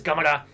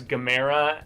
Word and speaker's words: Gamera: and it swims under it is gamara and you see like the you know shell and everything but then oh yeah i was very very because i was pronouncing it as gamera and like you know chimera and stuff like that i'm not right i can roll my